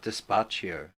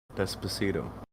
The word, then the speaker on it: Despacito: Because I call it despacio. Despacito? That! Despacito. That! Despacio. I can't say it right. Why can't you say it? Well, I can when, like, somebody else says it. But whenever I read it, my brain goes despacio.